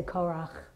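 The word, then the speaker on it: Korah: korak I don't know how do English speakers pronounce that you know what I mean in The Book of Numbers Hebrew speakers say korak yeah close enough um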